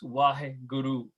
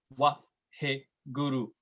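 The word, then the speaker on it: Waheguru: Anyway, so Guru mantra is, how you pronounce it is Vaheguru, Vaheguru.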